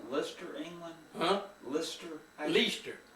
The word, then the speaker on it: Leicester: Lister? Leicester. How do you spell it?